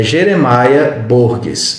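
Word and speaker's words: Jeremiah Burroughs: as obras desse autor é jeremaia burgues eu acho que se pronuncia mais ou menos assim o seu nome e ele disse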